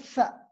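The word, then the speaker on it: ث: Ma bain asnani, entre les dents, on a le tha. C'est une fricative, donc harf rekhu, sourde, prononcée des fois T dans certains dialectes en Algérie, au Maroc.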